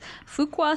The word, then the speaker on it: Fuqua: his master's of business administration from Duke University's Fuqua School of Business did I say it right